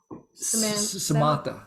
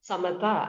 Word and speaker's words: Samatha: It's, is it Samantha. Shmata, maybe? How do you say your name? You'll have to teach me how to say your name, Miss. That's the easy one. Samatha, as in Samatha.